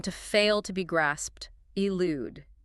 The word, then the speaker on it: elude: Elude. E L U D E. I lude.